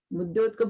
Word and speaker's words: मुद्योतिकम: मुद्योतिकम को कैसे बोलेंगे, दा और या से मिलके बना है, तो दा और या दोनों का उच्चारण होना चाहिए, मुद्योतिकम।